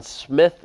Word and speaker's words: Smyth: separatists a man named John Smythe or John Smith spelled with a why who is influenced because